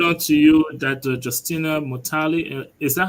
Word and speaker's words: Mutale: It's pronounced Mutale. Mutale.